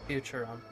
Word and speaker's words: Futurum: That's the name of this planet. It's how it sounded uh pronounced in the local tongue. Anyway, Futurum.